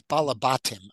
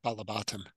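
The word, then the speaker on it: בעלי־בתּים: And it's Balabatim is how it's pronounced, Balabatim.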